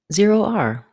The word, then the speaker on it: ZeroR: comom presents how to pronounce z r for this word we combine zero with the letter r z r z r Zer R have a word or